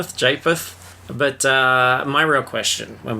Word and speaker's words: Japheth: How do we pronounce this one? Japheth? Japheth.